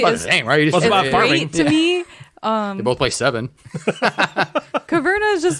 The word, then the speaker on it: Caverna: hate that me too it's not kavanaugh it's kaverna yeah a changes the